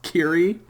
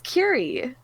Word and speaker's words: Kyrie: type first of all you pronounced it wrong so that's kiri it's curie okay it's like my name but without an a like take away the a and put it put an e in there um i don't know